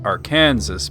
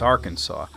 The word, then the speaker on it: Arkansas: When we learned the states and everything, they told you, now, look, it sure as hell looks like it says Arkansas, but it's Arkansas.